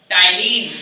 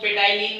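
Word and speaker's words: ptyalin: रखिएगा बहुत ध्यान से, टाइलिन, ठीक है। इसको पेटाइलिन भी बोले, यानी पेटाइलिन बच्चे बोलते हैं जो पहली बार पढ़ते हैं, PTYLIN, ठीक है, पर इसको प्रोनाउंस किया जाता है टाइलिन, ठीक है।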